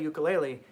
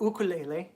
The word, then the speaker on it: ukulele: some people that just play ukulele or okay lately as it's actually pronounced sorry to anybody they